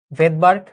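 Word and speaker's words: Svedberg: ভেদবার্গ, প্রথম ক্লাসে বলেছিলাম এই ভদ্রলোকের নাম ছিল ভেদবার্গ, বুঝছো? এসটা এখানে সাইলেন্ট থাকে। ক্লিয়ার?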